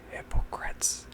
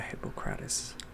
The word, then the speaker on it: Hippocrates: Anyway, I always read his name somewhere and I never say his name, so I think it's Hippocrates. Because you know the Hippocratic Oath? The one that says, do no harm.